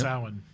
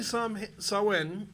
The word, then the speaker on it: Samhain: Samhain. Yes, Samhain. Occasionally incorrectly pronounced as Samhain, but Beth and Brian are correct. It is Samhain. It has a freaking M in it.